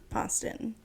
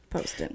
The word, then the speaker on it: Poston: Story by Miss Ashley poson Poston sorry Poston you so when you when you met her yeah she told you how to pronounce her last name Poston Poston cuz I called her